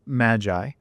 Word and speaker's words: Magai: is uh correctly pronounced Magi uh the the word is a combination of two words magic and AI uh sort of playing